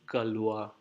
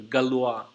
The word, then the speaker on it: Galois: even maybe I'm writing it I think it's pronounced Galois do you know him can we read actually